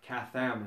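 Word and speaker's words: כתם: a possible meaning of the Hebrew word katham is the way it's pronounced, and what it means to some people, because I really researched it, is that it's an engraving.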